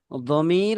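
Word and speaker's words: ضمير: উচ্চারণটা হচ্ছে জমির বা এটাকে জমির বলে। অন্তস্থ জর উচ্চারণ করবা।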